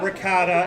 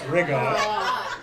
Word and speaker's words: ricotta: my lord it's monogat it's not ricotta it's Rigo it's not mozzarella so